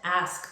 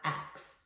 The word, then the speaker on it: ask: word ask you are enunciating the S-K and not substituting the S-K with an X. You want to ask a question, not ax a question.